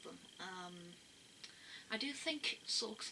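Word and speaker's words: Sawk: um i do think sork's name is quite funny because like when you if you pronounce it how they pronounce it in the anime it's like suck suck and it just makes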